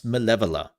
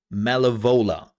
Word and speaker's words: Maleva: Also, how many Americans cannot pronounce Maleva? C can I just point that out? I have seen far too many people from the US saying Malivola and I'm sitting here and go the what?